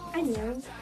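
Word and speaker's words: 안녕: Informel, cela se prononce Anyang, et cela s'écrit comme ça en version romanisée.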